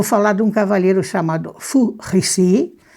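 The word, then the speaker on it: Fu Xi: Vou falar de um cavaleiro chamado Fu Rixi, é a pronúncia do nome dele, e ele, digamos assim,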